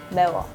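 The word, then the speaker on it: 매워: - Mae-wuh. - Mae-wuh. - Mae-wuh. (laughter) What? - We all just copied Brittney, that's how you say it in Korean.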